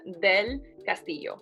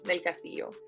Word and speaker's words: Del Castillo: butcher your last name tell me how to pronounce it thank you for asking it's del castillo del castillo um yeah del castillo i always think that